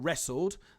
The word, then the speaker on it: wrestled: robber raided wrong room wrestled the r is used to form the alliteration here wrong and wrestled have a silent w at the beginning so they are part